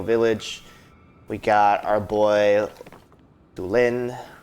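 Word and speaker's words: Tulin: we got our boy du Lin or two Lin but I know I like to prefer the pronunciation of the accent on the I I said I wanted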